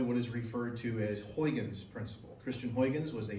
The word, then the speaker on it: Huygens: Once again, his name is pronounced as Huygens.